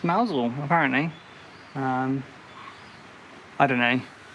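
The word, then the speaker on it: Mousehole: It's It's not actually Mouse Hole. It's actually pronounced Mousel apparently.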